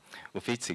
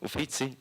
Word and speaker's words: Uffizi: Uffizi Gallery.